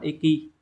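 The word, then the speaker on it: 易: Thì khi mà những cái từ mà theo âm Hán Việt là dịch ấy, thì chúng ta sẽ đọc là eki.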